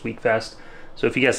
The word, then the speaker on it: Wekfest: I pronounced it wrong it's not weckfest it's week Fest so if you guys